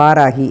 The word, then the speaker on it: வாராகி: இது வந்து காடஸ் துர்காக்கு, அதாவது நம்ம நேபாளில் வாராகி அப்படின்னு சொல்கிறாங்க இதை, அதில் தான் பாராகி. இந்த பெங்கால் மாதிரி இங்கே வி எல்லாம் பி அப்படின்னு ப்ரொனவுன்ஸ் பண்ணுறாங்க.